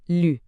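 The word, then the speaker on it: 绿: Essa pontuação sobre a letra U, no pinyin, o nosso velho conhecido trema, exige um som mais fechado, pronunciado com os lábios bem arredondados, junto com o quarto tom, que é aquele descendente e bem afirmativo.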